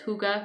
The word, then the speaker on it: hygge: cooler weather what is it who guy the Higgy is what it looks like but it's pronounced hygge right that idea that is just took the